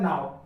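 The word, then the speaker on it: know: यहाँ पर देखा जाए तो यहाँ पर इसको पढ़ेंगे, अगर के को मिलाकर पढ़ा जाए तो नाव हो जाता है, लेकिन इसको क्या पढ़ा जाता है? नाव।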